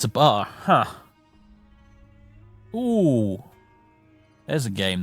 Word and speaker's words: BAR: The bar reminded me of it. Sorry, B-A-R. I always called it a bar, because that's how it's spelled.